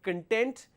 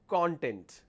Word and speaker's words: content: And the syllable stress will be important so that you don't make mistakes like content and content.